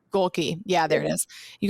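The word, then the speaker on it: Gohlke: Jack Golke. Golke.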